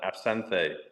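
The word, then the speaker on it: absinthe: I say absente. Yeah. Absanth. Okay. Because everybody else just calls it absent.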